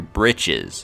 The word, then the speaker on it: breeches: and leaving you ringing your breeches your britches it should be britches but says misspelled like breeches just like her old